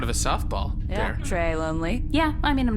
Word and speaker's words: Lonlée: Trey Lonely. Yeah. I mean, I'm not going to be rude. Wait, is your last name pronounced lonely? Yeah.